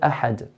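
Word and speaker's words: أحد: Then we have the word ahad. The word ahad ends with a dal. And dal is one of the 5 letters of qalqala, so we make an echo sound.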